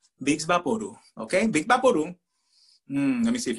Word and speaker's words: Vicks VapoRub: talking about here now you might think that this is pronounced vicks vaporub but no no it is big okay let me see